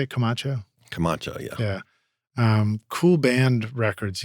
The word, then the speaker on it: Camacho: Camacho, yeah.